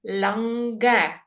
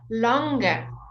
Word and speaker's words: longer: the the difference okay when your word ends in an NG you never say the girl your long strong etc just like we've done before however is this an ER you would say longer so this is slightly